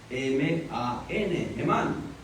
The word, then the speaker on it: Hemán: Hemán. Y luego está Etán. Etán es E-T-H-A-N. Acento en la A. En Hemán y en Etán el acento va en la última A o en la A.